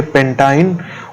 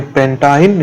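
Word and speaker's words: pentyne: तो इसको हम क्या प्रोनाउंस करेंगे? इथाइन, इसको बोलेंगे प्रोपाइन, इसको बोलेंगे ब्यूटाइन, इसको बोलेंगे पेंटाइन और इसको बोलेंगे हेक्साइन। इसको क्या बोलेंगे? इथाइन, इसको बोलेंगे प्रोपाइन, इसको बोलेंगे ब्यूटाइन, इसको बोलेंगे पेंटाइन, इसको बोलेंगे हेक्साइन।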